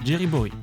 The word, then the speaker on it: Jamboree: Le mythe numéro 3, c'est à propos de la gare Jerry en VO qui se prononce Jerryborry.